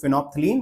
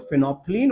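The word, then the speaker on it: phenolphthalein: तो फिनोलथिलीन है तो पी साइलेंट है तो इसको हम लोग फिनोपथलीन बोल देते हैं।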